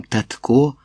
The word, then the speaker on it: татко: Шкода, що останнім часом татко так постаріли. Татко, вона говорить з наголосом на останньому складі, що мене жахливо дратує.